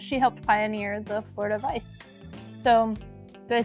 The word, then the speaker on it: Weiss: said, is that she helped pioneer the Florida Weiss. So, did I say it right that time? Yeah. The Florida Weiss, yeah.